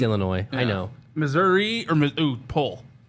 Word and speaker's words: Illinois: The S can be silent all it wants. I see it there. I was going to say something, but I didn't. It's Illinois.